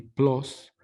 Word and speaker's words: plus: Subrayo plus con U, si me están oyendo mis hijos, que siempre que me dicen que prenda el Disney Plus, les pregunto yo, ¿a poco en latín más se pronuncia como lo pronuncian los angloamericanos? Plus, jóvenes, por favor, plus.